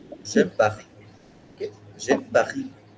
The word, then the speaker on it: Paris: Paris. So you see, they put a stress on the last sound of the word, each word. J'aime Paris. Hmm. Pahi.